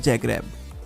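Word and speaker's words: Zagreb: Croatia की राजधानी है जैग्रेब, लेकिन लिखते समय इसकी स्पेलिंग जे से ना होकर जेड से होती है। तो लिखने में तो ये जैग्रेब होता है और बोलने में जैग्रेब।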